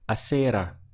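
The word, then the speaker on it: acera: in Spanish would be acerra so what we can do is visualize a Sara like the named Sarah walking on the sidewalk just two syllables ah Sarah Sarah is the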